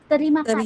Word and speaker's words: Terima kasih: Terima kasih.